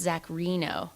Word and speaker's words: Reno: So 1 minor correction, and it's pronounced Zach Reno. Reno? I know. It's not Rhino. It's not Rhino.